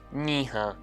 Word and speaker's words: nĩh̃ã: But when used on an auxiliary, or the verb ha, it's pronounced niha.